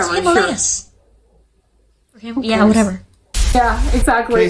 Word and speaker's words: Himalayas: Like ashwagandha and Himalayas, it's Himalayas.